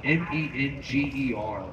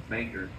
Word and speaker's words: Menger: 1840s across the street from the Alamo, the Bangor. It's spelled M-E-N-G-E-R, but people pronounce it Menger. It's Bangor.